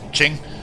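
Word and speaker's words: Qing: You run into Ching, well, King, but you pronounce it in China as Ching.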